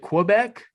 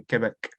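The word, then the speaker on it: Québec: lefty from quebec canada is it quebec um i think that's probably an americanized pronunciation if you want to be authentic it's probably quebec okay back okay well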